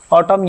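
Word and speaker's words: autumn: ऑटम यहां oxygen का नाम है। तो यहां पे एन क्या होता है?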